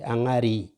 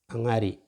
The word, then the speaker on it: angari: So as you can see the pronunciation there, that's E, angari, angari.